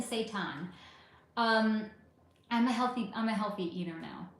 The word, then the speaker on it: seitan: Not to be confused with the way it could sound if someone said it wrong, which would be Satan. Not Satan, seitan.